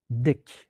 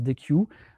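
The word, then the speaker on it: Deque: Par contre, vous allez voir une autre classe qui s'appelle DEC. Alors, il faut la prononcer DEC. Il y en a certains qui prononcent DEQ. C'est marqué dans la documentation à prononcer DEC.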